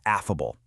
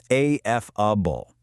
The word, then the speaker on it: affable: And that magical linguistic tool is affable, a-f-f-a-b-l-e. Let's lock in that pronunciation right out of the gate. It's three clear syllables, a-f-f-a-b-l-e. Notice how the very first part rhymes perfectly with the word laugh, affable.